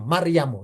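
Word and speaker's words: مريم: Nama Maryam hurufnya mim ro ya mim. Maryamu bacanya Maryamu ya.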